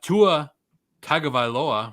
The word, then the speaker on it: Tua Tagovailoa: their secret weapon people forget about him uh tua tagovailoa which i finally pronounced right uh going up against the jets